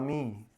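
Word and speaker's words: tsunami: करा था सुनामी सुना सुनामी टी साइलेंट होता है साइलेंट क्यों होता है हमको नहीं पता आज तक सुनामी के जैसे कारण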